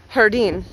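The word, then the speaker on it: jardín: own videos oh look hardine garden and espanol is hardine but it's spelled j-a-r-d-i-n i believe there's an accent above the eye hardine as a garden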